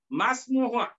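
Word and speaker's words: ما اسمها: মানে কি, ইসমু ইস্তিফামিন, এটা মিলিয়া পড়ার সময় হামজাতুল আসল এই ইসমুর আলিফের উচ্চারণ হবে না, মাসমুহা মাসমুহা তার নাম কি?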